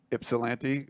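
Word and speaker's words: Ypsilanti: to be in Michigan ipsilanti it's pronounced with an i not a y and it's an upper Midwest thing uh starting like 7:30 p.m.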